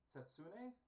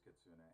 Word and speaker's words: Kitsune: Was it Tetsune? Was the pronunciation for the fox with the multiple tails? Kitsune? Kitsune. I believe it was Kitsune.